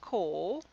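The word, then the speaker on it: 甲: Okay, so if you see this kanji, it could be pronounced ko, and indeed when it's being used as an ordinal, usually you use the onyomi, so you'd say ko otsu.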